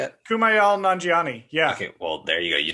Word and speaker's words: Kumail Nanjiani: So one of the guys, his name is Kumail Nanjiani. I think that's how you say it. Kumail Nanjiani.